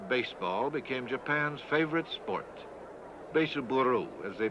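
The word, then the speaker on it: ベースボール: Beisuburu, as they pronounce it.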